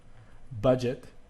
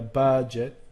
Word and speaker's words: budget: not true number one if the last syllable is not stressed as in budget to give this example budget uh you can hear the budget okay the emphasis is on the front side so when we turn